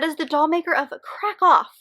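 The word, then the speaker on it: Kraków: doll maker of krakow which i've learned is actually how it's pronounced uh by r.m romero there's actually a little like i don't know accent thing over the o so i just have been saying it wrong the entire time this one ends up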